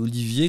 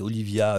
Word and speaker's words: Olivier: prononcer mon nom correctement moi je m'appelle Olivier quand il prononce mon nom c'était Olivia lifieifier enfin bon c'était des